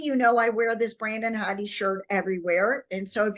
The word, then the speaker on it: Brandon Hodde: That's really bad of me, Brandon Hodde, for your music.